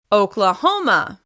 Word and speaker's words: Oklahoma: Oklahoma. This state is stressed on the third syllable.